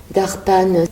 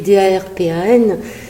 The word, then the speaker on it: Darpan: On va partir en aventure ce soir, une aventure intérieure avec Darpan. Ça s'écrit D-A-R-P-A-N, ça se prononce Darpan.